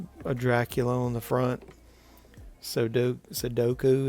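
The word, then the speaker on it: sudoku: Sodoku is how you pronounce that.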